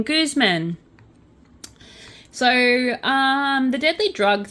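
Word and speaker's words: Guzmán: to do okay so Goose men that's how you say his name Guzman so um The Deadly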